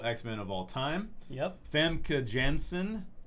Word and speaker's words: Famke Janssen: of all time yep famke janssen it's hard to say that name but that's how you say it versus rogue family Jensen